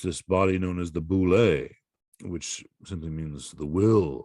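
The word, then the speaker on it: Βουλή: in modern-day greece uh the name for the parliament is the vuli which is just the modern pronunciation of the boule whatever the case may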